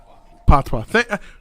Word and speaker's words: patois: Patois.